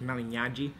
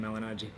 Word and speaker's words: Malignaggi: mentioned name is that Mali so in Italian it's actually GN is NY so it's Mali but nobody ever gets that so I just tell them malagi but in Italian when